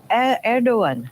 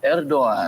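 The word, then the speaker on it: Erdoğan: door is open the president of Turkey arrogon erdogan erdogan erdogan that's how you pronounce it it's a little bit hard for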